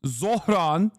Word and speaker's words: Zohran: Bernie pronounced it better than you. Yes, I know it's Zohran Kwame Mamdani.